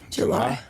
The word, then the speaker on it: Jelie: spell it different yeah j e l i e Eli Manning but with an e at the end and a J at the beginning July so I check her